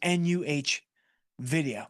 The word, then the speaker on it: NVIDIA: It is NUH video.